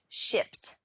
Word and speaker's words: Shipt: an Alabama-based company called, and I have to pronounce it very carefully here, Shipt, for $550 million.